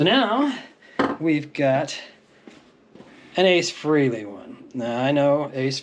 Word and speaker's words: Frehley: frankly freely so yeah it's Ace Frehley always was but um some of us pronounced it wrong I am well known